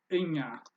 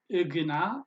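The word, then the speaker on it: እኛ: India will be Inga you pronounce it like pina yeah is like as in español español in yeah it's not Agena or Enya the G and n blend together and give you the yuh sound that's how English works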